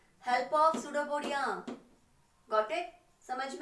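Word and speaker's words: pseudopodia: इसकी spelling P से शुरू होती है, पर हम पी को साइलेंट रखेंगे, पिसोडोपोडिया नहीं है, ये सुडोपोडिया है, ठीक है।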